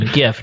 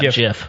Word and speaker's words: GIF: yeah it it is the correct pronunciation GIF not GIF by the way anyway